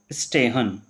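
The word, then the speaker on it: stehen: और अगर आपको ST मिल जाता है तो उसको क्या पढ़ोगे? सट। आधा से और टेस्ट सट, तो ये क्या बन जाएगा? स्टेहन। स्टेहन।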